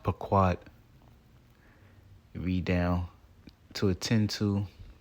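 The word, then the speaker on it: פָּקַד: Which is pronounced paquad.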